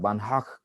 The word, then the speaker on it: Banach: আমার উচ্চারণটা ঠিক হয় না, বানহাক কয় ওরা, আমি খুলে বানাক কই, তোমরা বানাক বলবো না কখনো, বানহাক।